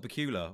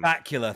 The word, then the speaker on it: Bakula: 1996 original series with Scott buul or Bakula I don't know how you say his name sir you do not mess up Scott Bakula's name baula thank you very much okay and